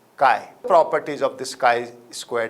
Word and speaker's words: chi: as chi square where chi is a greek latter and i am sure you know it can be pronounced as chi properties of the sky